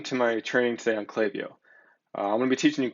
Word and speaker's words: Klaviyo: here they state that we've heard all sorts of pronunciations of clay vo clay vo whatever but the way it's pronounced is clay vo so there you go